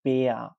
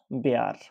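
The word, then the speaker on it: Bär: এবং জার্মান ভাষায় কোনো শব্দে যদি আর শেষের দিকে থাকে তাহলে আর পুরোপুরি উচ্চারণ না হয়ে উজ্জ থাকে অথবা একটু অল্প উচ্চারণ হয়, যেমন বেয়া, নট বেয়ার, বেয়া।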